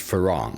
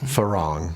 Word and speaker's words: Farang: Today I'm here with Jim Binella and it's pronounced Farang. Farang.